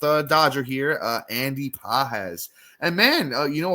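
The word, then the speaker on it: Pages: Uh, so far through his first 30 games, Andy Pahz, which is spelled um, P A G S if you're not familiar with him.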